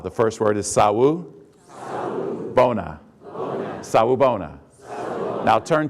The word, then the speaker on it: Sawubona: practice out loud the first word is SAU sa Bona Bon sa Bona now turn to your other